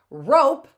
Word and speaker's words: rope: Rope ends with a silent E and has a long O.